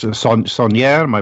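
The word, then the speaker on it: Saunière: I'm not even going to try to pronounce it. Sonnier.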